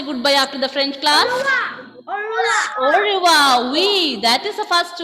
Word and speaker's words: au revoir: Okay, so au revoir. I am not pronouncing r sound there. Instead, I am pronouncing ra. Ra sound is coming here. Malayalam letter ra sound.